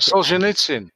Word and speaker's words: Solzhenitsyn: I'm sure I'm not pronouncing that. Solzhenitsyn.